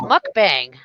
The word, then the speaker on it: mukbang: Yeah, it's mukbang.